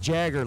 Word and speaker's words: Jagger: in Colorado CeX and goes pronounced Jagger like Mick and at first when I read it I was like wait how is Mick and Jack oh got it Mick Jagger that's perfect Sean schaer di 460